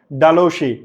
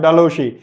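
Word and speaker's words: Dalhousie: এই তিনটারই আনসার হচ্ছে লর্ড ডালৌশি বা ডালহসি। আমরা বলি একচুয়ালি তার উচ্চারণ হচ্ছে লর্ড ডালসি।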